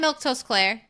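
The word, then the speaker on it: Milquetoast Claire: I'm Milktoast Claire. That's how you say my name.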